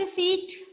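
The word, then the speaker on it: receipt: रिसीट silent P. यहाँ पे P silent है.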